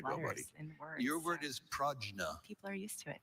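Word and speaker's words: prajna: Are there any alternate pronunciations for the word only? Pragna.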